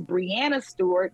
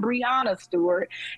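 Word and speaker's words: Breanna Stewart: correctly by all means it is Brianna Stewart not Brianna Stewart and just continue to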